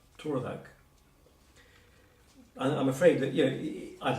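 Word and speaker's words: tardhak: But you've got to remember that A-R is often OR. So this is spelled T-A-R-D-H-A-K, pronounced Torvak.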